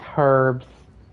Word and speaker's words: herbs: Look at these herbs. I used to pronounce the H.